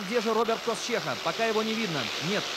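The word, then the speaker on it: Kościecha: Роберт Косчеха, именно так правильно произносится фамилия этого спортсмена.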